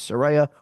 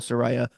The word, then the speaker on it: Saraya: now it's time to get people to understand her name is Saraya. We got to call her Saraya. Saraya, Saraya, I know she Saraya.